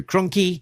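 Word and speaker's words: Krahnke: Artist Andrew Kroni rhymes with donkey.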